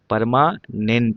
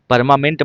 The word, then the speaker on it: permanent: सही नहीं है, सही लिखा करो, PER, परमानेंट होता है। परमामेंट मत पढ़ देना इसको, परमामेंट, PERM, ठीक है, MANANENT, परमानेंट, PERMANENT, बार बार बोल के पढ़िएगा उसको, ठीक है ना।